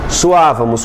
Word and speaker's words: suávamos: Suávamos. Como é que fica suávamos, gente? Su-a-va-mos. Não ficou assim? Ficou por quê assim? Que o acento recaiu sobre a segunda formando um hiato.